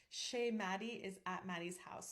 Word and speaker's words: chez: We would spell it S-H-A-Y instead of the French spelling, which is C-H-E-Z, because I want to make sure that nobody accidentally pronounces it ches.